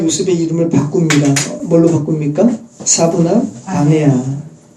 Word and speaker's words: 사브낫 바네아: 애굽어 발음을 히브리어로 음역한 것이 짜프낫 파네아. 근데 이 짜프낫 파네아를 우리말로 또 음역을 해서 사브낫 바네아로 음역을 한 거죠.